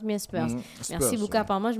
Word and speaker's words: Spurs: On prononce bien Spurs.